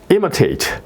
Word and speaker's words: imitate: 그 다음에 여기에 이제 it는 바로 im 이제 it 앞에 im 여기에 이제 그 액센트가 붙는 거죠. 그래서 imitate. 여기도 이제 마찬가지로 이게 시와 어가 발음이 되네요. 그죠? imitate 이렇게 발음이 되고요.